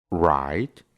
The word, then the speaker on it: write: después tiene una r solo Vamos a pronunciar la r y no vamos a pronunciar la W por ejemplo write que significa escribir wrong